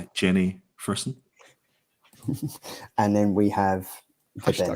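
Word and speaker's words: Jenny Frison: It's Jenny Frisson.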